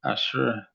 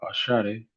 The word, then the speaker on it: Asher: Ashar ashar were 40 Ashare a not asher but Ashari were 40 and 1,500